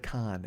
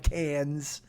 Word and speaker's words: Cannes: And this is what, it is not at Cannes. And don't pronounce the S. You fucking bumpkin. So, it is look at you with the flip off. But, you rube. It's not Cannes. It's Cannes.